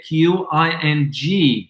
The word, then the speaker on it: Qing: When the Qing dynasty, Qing spelled, by the way, Qing. And it's pronounced Qing. Qing.